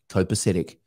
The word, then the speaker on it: copacetic: It is pronounced copacetic.